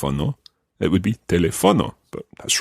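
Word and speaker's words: teléfono: or telephone itself El telefono okay what can you tell me about that word based on the pronunciation or stress of that word there's an accent on the second e exactly because what can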